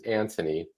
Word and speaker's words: Antony: Then we have this one from Antony, and that is how you say his name. His name is Antony.